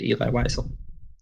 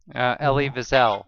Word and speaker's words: Elie Wiesel: Eli Wiesel. Elie Wiesel, actually.